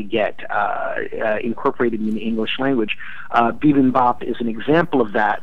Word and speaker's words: bibimbap: bulb it's so hot actually how do you pronounce it vividly top bivin bibimbap oh my goodness it sounds like something you